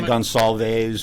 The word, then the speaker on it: Gonsalves: You know, a lot of people say Gonsalves or Gonzalez, so it gets pronounced a few different ways over the years.